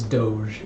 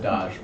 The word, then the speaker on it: Doge: Doge with a rose, because that kind of rhymes, got the right?